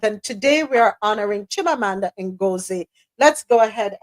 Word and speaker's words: Chimamanda: right let's keep it moving celebrated author Chima chimamanda let me say it right chimamanda adichi said